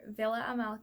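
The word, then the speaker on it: Víla Amálka: discussing fairy Amala or Villa Amala as I think it's pronounced in check so I'm going to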